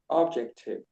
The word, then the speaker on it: objective: What would be the objective of this trial? Okay, in this case, English changes what it's it's objective. So, it's the emphasis is in the middle. Objective.